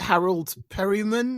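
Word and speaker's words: Harold Perrineau: I love it and I love is it Harold Perryman is that how you say his name yeah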